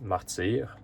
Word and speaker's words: Martyr: Uh it's pronounced Martyr in French.